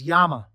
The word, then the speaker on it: Jama: Jama, but you don't pronounce the J. It's Yama.